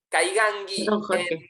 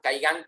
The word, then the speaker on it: Kaingang: experiencias con el pueblo caigangui la pronunciación en Brasil siempre ellos le agregan a la última consonante le agregan una vocal como dicen por ejemplo